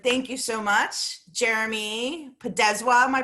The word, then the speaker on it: Podeswa: And thank you so much, Jeremy Podeswa. Am I pronouncing it correctly?